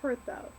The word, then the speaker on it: Perthro: Okay, this one, while we're at it, this is Perthro, or it's pronounced Pertho.